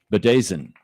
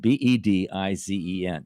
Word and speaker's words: bedizen: bedazen. Bedazen. It's spelled Bedizen. You would think it would be bedizen but it's bedazen.